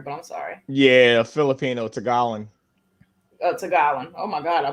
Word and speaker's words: Tagalog: It looked like tag along. Okay, all right. Well, look. In let's not get CC's defense, it does have a G on it, so it's like Tagalog, but Tagalog. At least I know the word. Silent G in it.